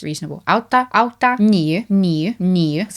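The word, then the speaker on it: átta: Auta. Auta. Sounds like Otto. Auta. That's all right. I'm not saying I'd necessarily go yet automatically, but it sounds reasonable. Auta.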